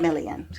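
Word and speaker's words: Milian: Millian Christina Millian.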